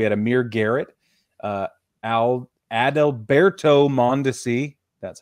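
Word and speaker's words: Adalberto Mondesi: exchange numbers we had Amir Garrett uh Al adalberto montesi that's how you say his name Brad Keller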